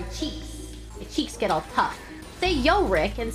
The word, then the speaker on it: Yorick: want anivia who's yorig Yorick I hate saying Yorick so it hurts my tongue and my mouth I'd rather say yo Rick not Yorick like my my tongue